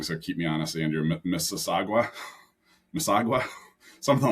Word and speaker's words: Mississauga: We ended up getting a house, and I'm gonna pronounce it wrong, so keep me honest, Andrew. Mississauga, something like that. Mississauga, yeah.